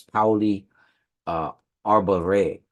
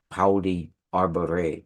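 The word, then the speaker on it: Pauli Arbarei: And the village that they live in is it's Pauli Arbore. It's a place in Sardinia. Pauli Arbore. It's spelled Pauli Arbarea. Arbore. Pauli Arbore.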